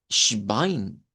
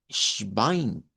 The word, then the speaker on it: Schwein: El inglés, cuando las palabras comienzan con S, en la mayoría de casos se pronuncia como una E y una S, algo como es. Eso no se debe de hacer en idioma Deutsch. En idioma Deutsch directo vamos con esta SH. Schwein, Schwein.